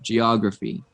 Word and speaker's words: geography: and then geography the stress is on the o geography yeah you said geography you stressed this but in english we would we stress this part geography yes good thanks to